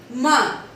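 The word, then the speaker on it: main: Now the next point, point number 17 says that if AIN and AIN, if AIN altogether is there and AIM altogether is there, the sounding will be on. Will be have the nasal sound.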